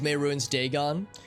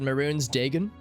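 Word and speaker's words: Mehrunes Dagon: over maybe I'm just Brit but I've been mispronouncing it this whole time I thought it was May ruin's Dagon but she said maroon's Degen it's like a very like Southern American like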